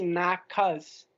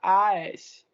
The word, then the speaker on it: nakhas: É porque esse nakas É Nakhas. Então tem que pronunciar esse H.